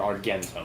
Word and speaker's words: argentum: the Latin name for silver is argentum or argentum would be how it was pronounced they didn't have a soft G no yeah what is